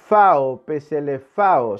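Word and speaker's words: ψηλαφάω: La palabra palparon nuestras manos es una palabra griega que se pronuncia más o menos así. Peselefao significa examinar las pruebas como un forense.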